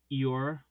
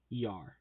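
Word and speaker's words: Iaur: Ethelond, referred to above, Androst, Druath, Iar, I-A-U-R, how do you pronounce it? Iar.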